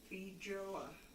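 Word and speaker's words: feijoa: Ralph said also it's not important, but to help me, that fruit is pronounced Fijoa. Fijoa?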